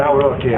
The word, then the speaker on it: Nawrocki: Yeah, bet- Nawrocki.